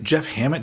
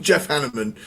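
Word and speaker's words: Hanneman: Um and um is that is that Jeff Hammet? Did I say his name right? You you said Jeff Hammet. Jeff Hanaman.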